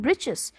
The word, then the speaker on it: breeches: little wool shirt with old-fashioned britches britches our Chargers okay here are the spelling is written in a different manner just to rhyme with the next word witches witches so this little